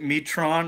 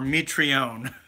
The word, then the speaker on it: Mitrione: goddamn not touts tonight is it meat Ron or meat reown yeah I believe it's pronounced meat Reaume but yeah keep all